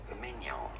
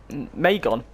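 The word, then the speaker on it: Maignan: In French, in France, it is said as Mike Mignon. Mignon. Oh, it's so easy. So not Megan, it's Megan. Is it Mike Megan?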